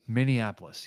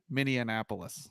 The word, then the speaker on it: Minneapolis: uh with no Minneapolis Minneapolis yes thank you are you proud of me for not adding an extra s syllable in there like I do yes mini and miniapolis miniapolis that's usually what